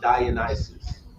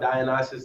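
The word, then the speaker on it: Dionysus: Without talking about I think I think it's pronounced Dionis, right? Talking about Dianisis and Bakas, you're talking about the same deity but different culture, right?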